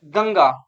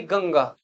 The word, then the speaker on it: गंगा: अब यह है गंगा। तो ये अंकी बिंदी के बाद ग है। और ग किस वर्ग का है? क वर्ग का है। और क वर्ग का पांचवा अक्षर क्या है? अंगा तो इस वजह से इस की बिंदी का उच्चारण होता है अंगा यानी गंगा।